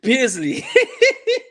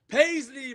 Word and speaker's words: Paisley: He was a bit more likely You said you said Pasley. How's it pronounced, brother? How do you know? Paisley, man. Paisley.